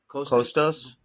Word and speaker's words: Kostas: Kostas? Kostas, kind of like Costa from Tom's Right.